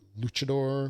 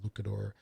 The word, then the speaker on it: luchador: Basically, you're what, Luchador? I believe that's how you say it, not Lucador.